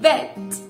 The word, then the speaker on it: vet: Vamos a continuar con vet. Vet. Vet. Veterinario. Fíjate muy bien que es la letra V o bilabial, porque nos mordemos un poquito los labios de abajo para poder pronunciar esa V.